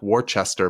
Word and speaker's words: Worcester: And yes, if you're not from Massachusetts, it's spelled like Worcester, but it is pronounced Worcester.